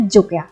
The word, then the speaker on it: Jok: dari Honja dan Jok Jadi bacanya meskipun J-O-K bacanya JUK pake U bukan pake O Honja (혼자) artinya adalah